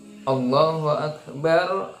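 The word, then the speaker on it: الله أكبر: Yang benar adalah ya Allahu Akbar, Allahu Akbar. A-nya itu pendek. Allahu Akbar, Allahu Akbar. Gitu ya. Ada yang mengatakan Allahu Akbar, Allah gitu ya. Allahu Akbar, Allahu Akbar, gitu. Ya. Itu A-nya di situ bukan dibaca panjang, akan tetapi dibaca pendek karena bukan hukumnya mad tabi'i, ya.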